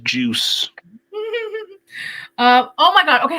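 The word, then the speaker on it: Juszczyk: gosh Kyle Kyle yeah even his name is pronounced juice um oh my God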